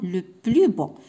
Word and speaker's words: le plus beau: c'est le plus beau يعني هنا ملي غادي ننطقها بوحديتها غادي نقول لو بلوس، ولكن هنايا لو بلو بو.